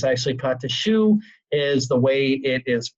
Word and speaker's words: choux: the word pate but it's actually caught the choux is the way it is pronounced properly it's a light pastry dough it's